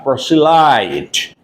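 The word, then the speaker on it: proselyte: certain religion and accepts another is called a proelite please note down p r o s e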